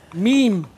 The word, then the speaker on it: meme: of mematic processes and they call it memes in the end because it's an analogy to genes it's like a little